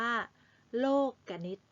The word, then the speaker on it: โลกนิติ: ลักษณะ ของ โครง โลกนิติ คำ ว่า โรค กนิต อ่าน ว่า โลกนิติ ไม่ ใช่ โลกนิตินาคี คะ แปล ว่า ระเบียบ แบบ